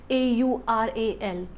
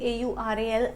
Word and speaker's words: aural: Now when we pronounce this word AURAL, in pronunciation it seems like oral, right?